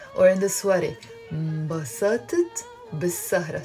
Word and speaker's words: بالسهرة: We write it بالسهرة, but we pronounce it بالسهرة. Why? Because whenever we have words starting with the letter sin, which we call a sun letter, we don't end up pronouncing the article ال.